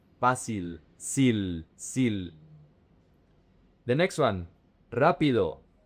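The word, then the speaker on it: rápido: The next one rapido. The emphasis is on the R A.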